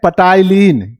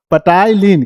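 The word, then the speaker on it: ptyalin: जब इसे लिखेंगे तो यहां पर होता है पीसाइलेंट। हम लोगों याद करने के उसे कहते हैं पटाईलीन। क्या कहते हैं प्यारे बच्चों? पटायलीन। क्योंकि यहां पर पी साइलेंट होता है।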